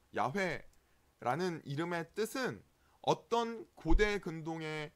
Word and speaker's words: 야훼: 본래 발음은 이제 야훼가 맞는 발음입니다.